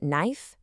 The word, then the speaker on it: knife: In no, knee, and knife, that K is a complete ghost.